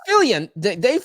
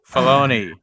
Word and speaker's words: Filoni: Fillion literally took the You said meme. Fillion again. Did I really? Filoni. Dave Filoni. Think of baloney when you say his name. Just say Filoni.